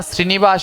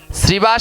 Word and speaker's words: শ্রীনিবাস: কি হবে জোরে বলুন প্রতিদিন বলেন তো শ্রীবাস হবে না শ্রীনিবাস হবে আমি অনেকজনকে দেখেছি 100 জনের ভিতরে প্রায় 60 জন উচ্চারণে ভুল করে ওখানে হবে শ্রীবাস। যিনি নারদের অবতার তিনি হলেন শ্রী।